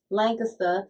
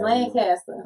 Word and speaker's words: Lancaster: street, but I mean, it's spelled exactly the same, but it's Lancaster. Okay. Like we call it Lancaster, and I come in here and y'all be like Lancaster. I'm like Lancaster.